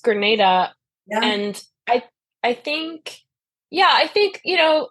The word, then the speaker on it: Grenada: real political person from Granada right that yeah yeah it's it's uh pronounced Grenada and I I think